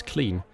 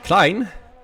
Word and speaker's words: Klein: the same tires Cline I know with English I should pronounce as clean um but that's not how you pronounce it in German or Dutch so I'll pronounce it